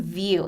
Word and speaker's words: Vu: free product out there called blue beam view it's spelled vu and blue beam view